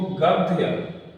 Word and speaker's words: गद्य: हिसाब से हिंदी को गद्य गद्य बहुत से लोग गलती करते हैं। इसको ध पढ़ते हैं। लेकिन ये ध नहीं इसका उच्चारण द गद्य फिर आएगा पद्य।